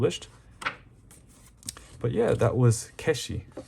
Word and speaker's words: 化子: so unique oh no it's not hak it's pronounced kesi I'm not sure what